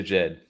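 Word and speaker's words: Djed: I always want to say to Jed. I said Jed. That's why I don't know. Yeah, the D silent on there.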